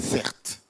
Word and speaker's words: Certe: ou pas je m'appelle certes ok c'est mon prénom mon prénom donc c'est vraiment cert c'est pas un nom de scène ça s'écrit c e r t e mon prénom c'est un